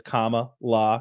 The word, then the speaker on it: Kamala: Harris's uh first name I know that it's comma law because like a comma punctuation Point law but Joe Biden says